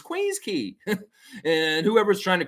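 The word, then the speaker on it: Queens Quay: Queen's Key is that's how you say it. It's said key. Key is the way you say that word. So anybody who's walking around saying Queen's Quay, you're an idiot.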